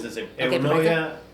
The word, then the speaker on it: Enuoia: Okay, Enuoia, we pronounce the same thing. Sí. Already tell the name. Enuoia.